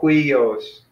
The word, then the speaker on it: huios: So this is a diphthong, hui, and then the vowel, omicron, that makes it a new syllable. So huios. If this is hui, no, we're not doing any capitals.